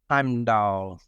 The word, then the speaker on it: Heimdall: It's Heimdall.